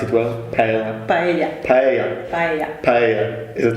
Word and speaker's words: paella: Yeah, paella. Do I pronounce it well? Paella. Paella.